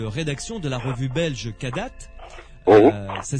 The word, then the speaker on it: Kadath: Vous êtes membre du comité de rédaction de la revue belge Kadat. Ça s'écrit K-A-D-A-T-H.